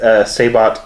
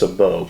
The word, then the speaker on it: sabot: And I said Sabot, and it is pronounced Sabot. Please don't compliment or correct me or compliment me for that matter in the comments.